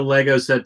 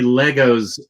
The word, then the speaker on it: Lego: the whole episode because I know how upset the Europeans get when Americans say Legos. Legos, Legos, Legos, Legos, Legos, Legos. I know it's Lego, but I'm saying Legos.